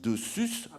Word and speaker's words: Dessus: nom, que vous dites dessus, ça va pas aller. Vous savez, c'est typiquement ardéchois, donc on ne prononce pas le S, quoi, le dessus.